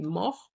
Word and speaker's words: mort: Then we had I died, je suis mort. The T silent.